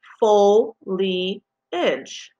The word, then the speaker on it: foliage: example we know that foliage at the bottom is pronounced full lee edge the dictionary will also